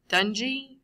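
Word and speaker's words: dengue: subunits this is and I always say it wrong i think it's Dungey or yeah it's done g-virus Dungey model two power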